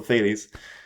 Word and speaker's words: Thales: Reality, according to Thales, I think that's how you pronounce him. Some people call him Thales.